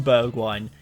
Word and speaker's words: Bergwijn: assets he could be number one is Steven Berg wine yes that is how you pronounce his name think the wine bit in